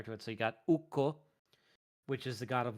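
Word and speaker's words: Ukko: finished language is that a double consonant is pronounced like it's hyphenated so so even if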